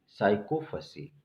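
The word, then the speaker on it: sycophancy: चमचागिरी, साइकोफसी। ठीक है, साइकोफसी एन इसमें जो है साइलेंट होता है, ध्यान दीजिएगा।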